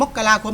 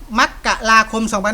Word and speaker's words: มกราคม: เดือน มกราคม 2567 ครับ อ่าน ออก เสียง ได้ 2 แบบ ครับ เดือน มกราคม เนี่ย นะ ครับ จะ อ่าน ว่า มกราคม 25 จะ อ่าน ว่า มกราคม หรือ มกราคม ก็ ได้ ครับ มกราคม ครับ ได้ หมด เคย ครับ นะ ครับ อ่า